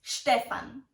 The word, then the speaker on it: Stefan: Stefan Stefan IA did you hear the right pronunciation of this typical German name it's Stefan here you have to be careful with the